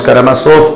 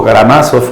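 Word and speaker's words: Karamazov: sea Crimen y Castigo los hermanos karama soft o garamazos como quieras pronunciarlo Quiero saber cuenta claramente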